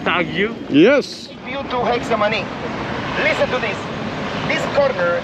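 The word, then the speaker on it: Getsemaní: old city and hey arthur how do you pronounce this section of the city oh right now we're going to have the hexamoney graffiti proximity hexamini thank you guys can you tell us your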